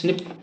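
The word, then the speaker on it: SNP: base differences A एन एस एन P single nucleotide पॉलीमोर्फस pronounce स्निप occurs in humans देखो कितना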